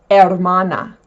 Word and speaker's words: hermana: The H in Spanish is silent. It's not hhh like in English, there is no pronunciation of the letter H. For example a brother is hermano. A sister is hermana.